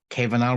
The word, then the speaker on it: Kevenaar: uh today we have um i'm gonna hopefully pronounce his name correctly uh we have maurice kevin are with us from amsterdam area of the netherlands